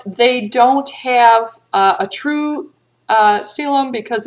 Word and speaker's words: coelom: And I have seen in a few places where people suggest that you pronounce, because normally we pronounce this the C in coelom like an S, coelom.